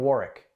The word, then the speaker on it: Warwick: But if you're from Rhode Island, you can say, oh, I'm from Warwick. You don't pronounce the second W for some reason.